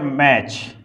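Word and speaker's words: match: और अब जैसे क्या हो गया, मैच, तो टी कहीं कहीं क्या रहता है, साइलेंट रहता है, क्या रहता है, साइलेंट रहता है।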